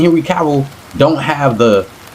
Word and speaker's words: Henry Cavill: Y'all can't say Henry Cavill.